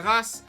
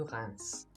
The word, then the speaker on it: Reims: Stade de Reims after that in the Ligue.